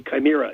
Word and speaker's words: chimera: era chime era whether words it should be chimera interestingly enough though that it really fascinated me